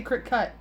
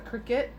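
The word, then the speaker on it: Cricut: cut or cricket or apparently I say it wrong I say Creek cut but apparently just called a cricket but anyway he was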